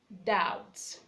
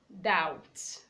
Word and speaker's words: doubt: B is also silent before T, as in doubt, doubt, not doubt.